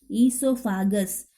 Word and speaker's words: esophagus: Here O is silent. Esophagus.